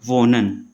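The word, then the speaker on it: wohnen: और इससे अगला क्या हो जाएगा वोनन, ये एन और ओ के बीच में आ रहा है तो साइलेंट हो गया।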